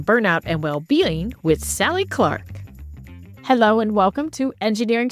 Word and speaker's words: Clarke: name is Sally Clark I'm trying to pronounce it in a non-australian way so there is an r in there Clark and my pronouns of